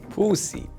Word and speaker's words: Pousich: My name Pousich that I pronounce it pussy, and what is it miss?